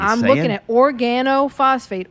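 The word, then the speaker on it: organophosphate: say I'm looking at Organo phosphate organ is the first two syllables then it's O phosphates or she speaking like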